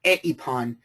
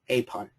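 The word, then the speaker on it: εἶπον: Basically the way I read it is I make this into a diphthong, That's a diphthong, the way that I read it. So it's apon, apon. Okay? So you don't pronounce it separately. Now, it's not eipon, it's apon.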